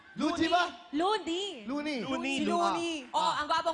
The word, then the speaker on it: Loonie: Looney. Rhymes with Luigi. Luigi ba? Looney.